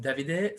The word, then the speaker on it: Davide: and welcome so david i don't know if this is the right pronunciation but david i yes it's correct so i'm davide from um from belgium